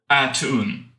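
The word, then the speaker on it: A'Tuin: of the giant turtle attune I think that's how it's pronounced I think that's correct it is you left out a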